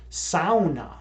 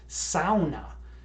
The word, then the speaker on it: sauna: the sauna originated in Finland, and it's actually pronounced sauna. Now that's like weird as fuck to me, right? To hear it pronounced sauna, but if you look it up, it's actually pronounced sauna.